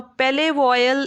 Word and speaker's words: Palais Royal: Now, Palais Royal is the French pronunciation.